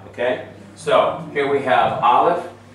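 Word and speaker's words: Aleph: so here we have Olive it's a silent letter without the vowel marking so I can actually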